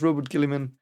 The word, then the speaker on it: Guilliman: Lion and outright kills it's really hard to pronounce his name for me, Robbie Gooley, so I'm going to call him Robbie Gooley? Robert Guilliman. So Robert Gilliman. I think it's Robert Gilliman.